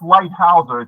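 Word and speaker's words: Leithauser: It's pronounced lightouser.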